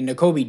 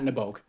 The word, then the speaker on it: Nakobe: Yeah, Nakobe Dean, not Naboke.